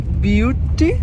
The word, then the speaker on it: butte: to buty are the the E which is actually pronounced as be beauty beauty beauty is a rock um